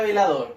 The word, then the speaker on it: velador: Lo mismo que la palabra velador. Velador. Separo en sílaba. Velador. Dor es la última sílaba. ¿Ya? Y es donde cargo también la voz.